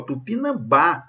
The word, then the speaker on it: Tupinambá: O acento de Tupinambá se justifica porque a sílaba tônica recai na penúltima sílaba? Não, gente, a sílaba tônica está aqui, ó, Tupinambá, está até acentuada graficamente, ok? E aqui está dando para ver que é a última.